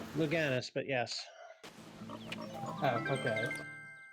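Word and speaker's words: Louganis: Then I will just say, Greg Louidas? Luganis, but yes.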